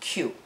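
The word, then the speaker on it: 九: The title is a play on the Japanese pronunciation of the year 1984, because in Japanese the number 9 is pronounced Q.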